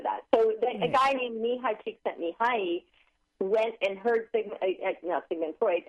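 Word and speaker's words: Mihaly Csikszentmihalyi: Can you pronounce his name again for us? Mihai Csikszentmihalyi.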